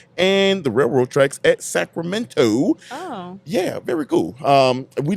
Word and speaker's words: Sacramento: Sacramento. Ain't no T in it. It's just minnow, like Elemento.